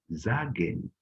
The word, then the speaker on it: sagen: We pronounce S now like Z, okay? Like Z, not sagen, sagen, because it's followed by a vowel, R or A in this case.